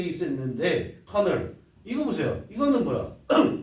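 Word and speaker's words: colonel: 커널이라는 게 있었는데 커널 이거 보세요. 이거는 뭐야? 이거 같은 경우는 발음이 어떻게 되냐면 커널 철자로 말해보세요. 커널이야 이게? 대? 콜로널 이렇게 되죠. 아예 얘가 발음이 안 되는 거라고.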